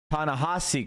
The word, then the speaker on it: Ta-Nehisi: By the way, it's pronounced Asi, not Hisi. Ta-Nehisi Coates.